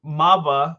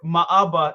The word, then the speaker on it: Maaba: is my name is Maba or maaba is the official way to pronounce it but okay yeah but